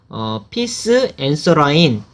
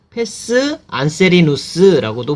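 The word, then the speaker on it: pes anserinus: 이것을 우리가 피스 앤서라인 또는 이제 라틴어 발음 그대로 하자면 페스 안세리누스라고도 불러요.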